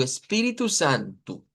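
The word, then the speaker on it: Espírito Santo: espíritu con el acento en la pi, espiritu y luego santu, u espíritu santu.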